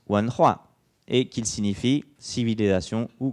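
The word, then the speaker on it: 文化: Un autre exemple, donc si vous prenez le dictionnaire de chinois MDBG, que vous cherchez ces deux caractères-là, vous apprendrez qu'il se prononce Wanhua et qu'il signifie civilisation ou culture.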